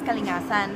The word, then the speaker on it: Kalingasan: Yung Canadians, like, my last name talaga is Kalingasan. Pero how do you pronounce it is Kalingasan.